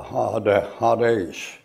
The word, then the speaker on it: Hades: And that's a long A in there, a Hades, like that.